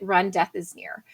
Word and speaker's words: Remdesivir: term uh you know how do you remember to say it it you pronounce it run death is near and everyone attributes that